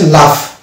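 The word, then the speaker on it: laugh: যেমন আফ, এখানে এটা হয়েছে লাফ। তাহলে ডিয়ার ফ্রেন্ডস, আমরা জি এর কোথায় সাইলেন্ট হয় আমরা জেনে গেলাম, এই 5টি ফর্মুলা, 5টি জায়গায় জি কিন্তু সাইলেন্ট হচ্ছে।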